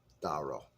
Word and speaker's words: Douro: and that's the region where it's grown all right Dora so daro correct way to say let's get into flavor